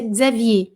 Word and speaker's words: Xavier: E aí, Xavier, a gente pronuncia Xavier.